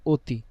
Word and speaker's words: অতি: আমরা একটু খেয়াল করি শুরুতে অধনি অধনির পর রসী তাহলে অটা কার মত উচ্চারণ হবে ও এর মত তাহলে অতি এজন্য এখানে অতি হয়েছে ঠিক আছে আবার শুরুতে অধীন তার